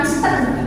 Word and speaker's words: listen: Jadi kok bisa listen mendengarnya bukan listen listen untuk huruf T-nya sama bukan listen enggak ada listening listening jadi T-nya itu sama